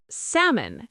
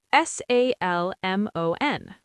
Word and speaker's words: salmon: Salmon. S A L M O N. Salmon. Delicious silent L.